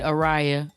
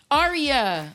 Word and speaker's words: Aria: Aria, like a like an opera.